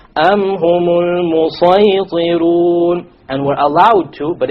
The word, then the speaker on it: الْمُصَيْطِرُونَ: It is better to pronounce it as a sad.